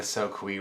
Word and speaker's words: Soque: We were talking about that, like the Soquee River. Yeah. And it's spelled Soque. Yeah. And It's I remember we were talking. It's spelled like soak.